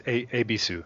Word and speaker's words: Ebisu: I got her name wrong. It's Ebisu. Ebisu, yeah.